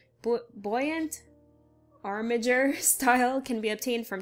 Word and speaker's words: Armiger: I'm sorry, I apologize for my pronunciation. Buoyant Armiger style can be obtained from treasure chests and treasure maps across Vardenfell.